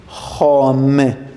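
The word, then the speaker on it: خۆم: For first singular person, we use khom. Be careful. Now and more, you have to pronounce kh in a correct way, because in khoyi pronoun, all of them, we have kh inside it.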